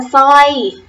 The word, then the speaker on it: สร้อย: ควบ รอ เรือ ได้ แก่ สร้อย อ่าน ว่า สร้อย Tong อ่าน ว่า ฟาง เสร็จ อ่าน ว่า เสร็จ